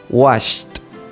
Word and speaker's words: washed: base Wash Wash bien Ahora vamos a agregar el sonido de la t Wash was per aplausos y ris muy bien muy bien entonces allá en casa quiero que ustedes también pronuncien y practiquen a la vez con nosotros ent vamos a repetir una vez más Entonces tenemos worked worked washed washed perfect muy bien Vamos a